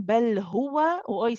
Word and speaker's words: هو: Are you saying bel huwa or are you saying bel huwa? It has to be hu, not ho. Okay, so we need to make sure it's a u sound.